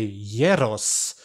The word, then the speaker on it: gyros: like that because the greeks don't say the g so you say yeros so uh yeah so